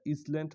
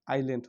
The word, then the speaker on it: island: এটা ইসল্যান্ড হবে না, আইল্যান্ড হবে।